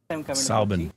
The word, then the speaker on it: Soubin: Soubin. Soubin. Welcome to the show. Hi. Soubin, sir. Soubin? Soubin. So it's like my name, but with an S. What? Korbin, Soubin. Yeah, they don't sound alike. Soubin?